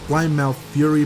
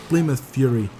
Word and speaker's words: Plymouth Fury: was pronouncing very wrong I used to say my mouth theory but is actually I think Plymouth Fury so thanks Google Translate